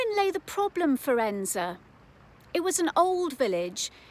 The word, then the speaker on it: Edensor: District and today I'm in the village of enza that's how it's pronounced in the Peak District National Park in England now enza is a picture postcard Little Village it's got